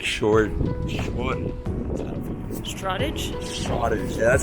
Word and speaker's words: Shoreditch: Shore, like seashore ditch? but I don't think it's pronounced that. I know I've heard English people say it. It's like Shoreditch.